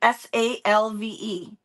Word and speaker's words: salve: S-A-L-V-E, which is like something that soothes, but it's a lotion. Rhymes with have, salve.